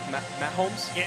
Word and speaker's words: Mahomes: in the first half since, is it Patrick Mahomes? In a season opener. Is that how you pronounce it? Yeah, Mahomes?